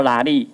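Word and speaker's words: 鯪鯉: 第三个是犁头店穿木屐站邻里，邻里台语念作拉力，也就是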